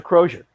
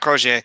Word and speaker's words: Crozier: okay uh oh Roger Crozier yeah this closure not crochet I keep singing I keep doing the French pronunciation because that's normally how it's done yeah yeah well that's